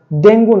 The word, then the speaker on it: dengue: আমরা বলে থাকি ডেঙ্গু। ডেঙ্গু জ্বর বলে। বাংলায় ঠিক আছে কিন্তু ইংলিশে DENGUE এর উচ্চারণ হচ্ছে ডেঙ্গি। সঠিক উচ্চারণ হচ্ছে ডেঙ্গি ডেঙ্গু নয় তারপর আছে দেখেন DATA